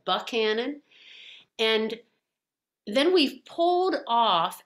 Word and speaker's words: Buckhannon: a place called buckhan buckhannon not buchanan it looks like buchanan but they pronounce it buckhannon and then we've pulled